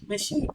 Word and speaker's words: machine: in the word shop sh is also CH that sound is also CH in MA machine machine not machine C it's